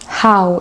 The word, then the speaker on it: how: de comprendre que c'est pas c'est how et il y a une sorte d' qui sort avec le h parce que en anglais on va venir prononcer le h avec une sorte d' how un peu comme quand tu dis mais sauf que on entend même pas tant le h que ça mais c'est dans un